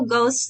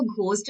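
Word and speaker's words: ghost: बोलते हैं freak out करना नेक्स्ट है टू गोस्ट समवन यहां पे मैं बता दूं इसको घोस्ट नहीं बोलते इसमें एच जो होता है वो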